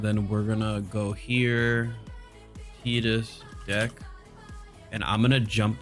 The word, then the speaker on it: Tidus: And it is Tidus, guys. That is how you pronounce that.